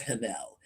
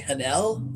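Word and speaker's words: Haniel: My favorite is Hanel. Now, I don't know if I'm pronouncing her name right. It's Daniel, only with an H at the beginning. So I say Hanel.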